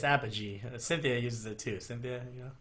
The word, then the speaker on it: Apogee: Is it Apogee or Apogee? I think it's Apogee. Cynthia uses it too. Cynthia, Yeah, Apogee. Apogee. Got it. Yeah, Apogee.